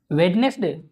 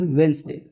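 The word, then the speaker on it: Wednesday: फिर इसको क्या पढ़ेंगे, वेडनेसडे, तो ये वेडनेसडे ना हो के क्या होता है, वेंसडे, इसको हम क्या पढ़ते हैं, वेंसडे। इसका प्रोनाउंसिएशन मोस्टली लोग गलत करते हैं, संडे, मंडे, ट्यूसडे, वेंसडे, ये क्या है, वेंसडे, नॉट वेडनेसडे, वेंसडे।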